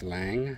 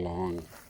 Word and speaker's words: Lang: I have potted the uh now I believe I've been pronouncing this lang, but I do believe it's actually long uh a long juju bee.